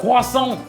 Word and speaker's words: croissant: 아, 고아성. 고성 고아성. 어, 발음이 아무 들려주세요.